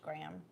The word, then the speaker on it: Graeme: It's spelled Graeme. Okay. So I want to say Graham, but it may be Graham. It's pronounced Graham.